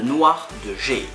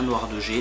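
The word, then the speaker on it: noir de jais: argent bien évidemment, et la nouvelle couleur, le noir de Jay. Alors je sais pas si vous prononcez bien, noir de Jay, noir de Jay, noir de Jay.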